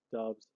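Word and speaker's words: Doubs: think sprouts dubs i i was pronouncing it doubts for a while but i think it's pronounced dubs uh coming from nevada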